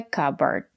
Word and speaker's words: cupboard: We pronounce it as like burger. A cupboard. This is a cupboard. The letter D is a stop D. Put your tongue up and stop the air.